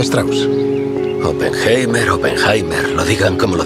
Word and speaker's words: Strauss: ¿Señor Strauss? Se pronuncia Strauss.